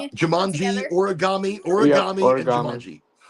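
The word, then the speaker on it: Jumanji: no it reminds me of like Jamanji is that how you say it? Yeah. And origami. Jamanji.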